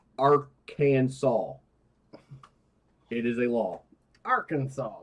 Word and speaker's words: Arkansas: by jail time okay Arkansas must be pronounced Aransas it is a law